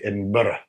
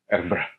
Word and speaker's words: Edinburgh: Of course, I don't say Edinburgh. Edinburgh.